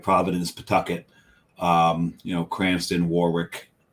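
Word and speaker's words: Pawtucket: it's centry not Coventry it's Pucket not PA Tucket yeah it's puet not PA Tucket even though they called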